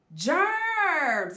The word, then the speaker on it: germ: getting rid of those germs good job this is germ the G is beside an e so it makes the soft G sound which is jump it goes here good